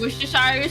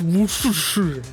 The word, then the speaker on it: Worcestershire: drinks Worcestershire sauce? It was probably a prank. Just a prank, bro. That's pronounced. Yeah, it's pronounced Worcestershire.